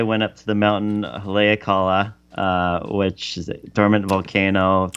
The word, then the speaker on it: Haleakala: Second day I went up to the mountain Haleakala, which is a dormant volcano. Also, kudos to you for pronouncing these correctly.